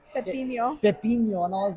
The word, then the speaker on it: pepino: She said agua de pipón, and Elazar started laughing at her and was like, "You don't even know how to say it. It's agua de Pepino.